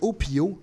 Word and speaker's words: Hopiho: Il s'appelle Opio. Ça s'écrit H-O-P-I-H-O.